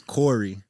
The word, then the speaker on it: Khary: but at the same time, it's spelled the same, just the A is a O. So it's Corey, you go. Khory.